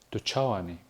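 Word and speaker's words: Tu çawa yî: Курды говорят «тучауани». Сейчас вы на экране видите, как пишется предложение «тучауани». Снизу дана транскрипция, как произносится каждая из букв. «Тучауани». Обращаем ваше внимание, что звук «ч» здесь взрывной. Какой ответ можно дать на вопрос «тучауани»?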